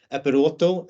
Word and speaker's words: Eperoto: short facts but uh apparently it's a Greek word uh and it basically